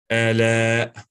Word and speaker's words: آلاء: It's with the Hamza taban. So not with the ain, not with the ain, with the Hamza. Ala.